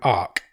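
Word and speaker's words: Arq: He's picked a film called Ark. Okay. Which is spelled A-R-Q.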